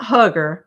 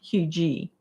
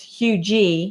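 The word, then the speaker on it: Huger: It's Hugh G, not Hugger.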